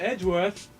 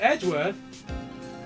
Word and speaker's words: Edgeworth: oh what the hell Edwards I think Mr edworth oh that way uh Mr Edgeworth I brought you your tea huh what's it